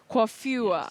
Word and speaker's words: coiffure: Coiffure.